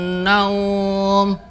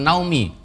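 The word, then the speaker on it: نوم: As-salatu khairum minan naum. Dibacanya bukan naumi. Karena apa? Matlayin dibaca panjang.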